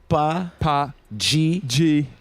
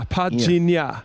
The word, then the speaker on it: Padjinha: Padjinha. How the hell are you? Yo, pronounce your name properly for me, because I feel... Padjinha. Nya. So there's a nya now. Padjinha.